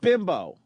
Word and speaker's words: Bimbo: How did he pronounced wrong if spelled BIMBO?